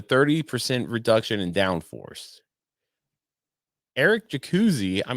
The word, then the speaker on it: Jacuzzi: reduction in downforce Eric jacuzzi I'm pretty sure that's how you pronounce it right oh I don't I don't know how does it spelled j-a-c-u-z-z-i I would say that yeah jacuzzi who is the vice